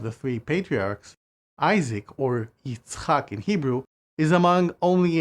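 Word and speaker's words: יצחק: And again, it is pronounced Yitzchak.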